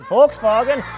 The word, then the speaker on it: Volkswagen: 2019 Volkswagen yes that is how you correctly pronounce it Volkswagen RT on to OTS e with four motion